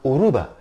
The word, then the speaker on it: Yoruba: heard that language I I wasn't even aware that it was Yoruba because the why is silent maybe because for a long time they speak Yoruba with a Spanish accent so it's uruba Aruba and it's not